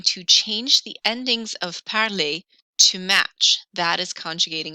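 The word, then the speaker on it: parlent: on the end vu parlay and then el in l my ending i drop the er and instead i add the letters e and t which are silent and they are pronounced parle so parley to speak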